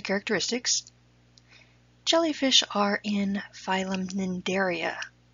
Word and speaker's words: Cnidaria: jellyfish are in phylum Cnidaria the sea is silent who put silent putters